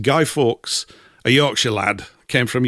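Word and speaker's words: Guy Fawkes: for a gentleman called Gido Forks, more commonly pronounced Guy Forks, a Yorkshire lad, came from Yorkshire, my own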